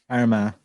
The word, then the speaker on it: Armagh: Armagh. Yeah, I do. Okay, next one. It rhymes with syndrome.